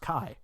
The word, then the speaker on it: Ki: wait it's spelled k-i-ishtar it's spelled Ki but it's actually just pronounced Kai which is really insane